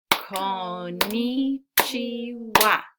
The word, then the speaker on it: Konnichiwa: All right, let's clap it together. Konnichiwa. 4 syllables.